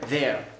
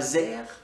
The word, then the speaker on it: there: There, there, there. Alors c'est le son TH qui est assez compliqué, c'est pas there, c'est pas there, c'est there. Donc il est vocalique, il